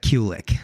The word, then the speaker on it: Kulich: My family pronounces Kulich, Okay. although I'm sure if you went to Czechoslovakia, it'd be very different.